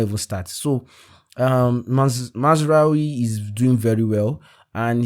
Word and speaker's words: Mazraoui: His name is Mazraoui. Okay, Mazraoui. That's the pronunciation.